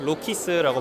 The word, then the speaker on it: Rokiss: Rokiss라고 발음하시면 돼요.